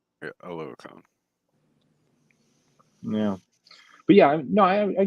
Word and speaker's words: Oluokun: Stepping into, I'm not even going to try and pronounce Foy's last name. Yeah. Foye Oluokun. Oluokun.